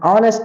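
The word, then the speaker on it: honest: नेक्स्ट एन ऑनेस्ट मैन एन ऑनेस्ट मैन इसे हम नेस्ट नहीं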